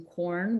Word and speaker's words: Quorn: If you're a longtime vegetarian, maybe you're eating it in corn, which is spelled Quorn.